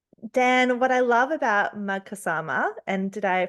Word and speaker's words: Magkasama: Um, Dan, what I love about Magkasama, and did I pronounce that correctly? Thank you. Magkasama therapy is that you share that you are